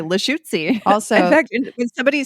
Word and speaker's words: Lushootseed: dialect of Lushootseed, which when I try to pronounce it sounds to me like poetry and a sneeze all at the same time. Lushootseed. Lushootseed.